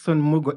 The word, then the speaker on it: Mugo: I'm your host Mugo and the O is silent by the way and we are live